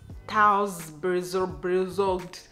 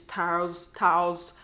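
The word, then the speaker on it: Thuisbezorgd: I usually pronounce it Thuizbezorg, but now somebody corrected me and they said it's Thuizbezorg, right?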